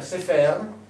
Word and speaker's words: sefer: ci metto due E, questa parola diventa sefer, che vuol dire libro, documento, scrittura. Se io invece di questi segni qui ci metto questi e si legge sofer, diventa segretario, scriba, scrivano.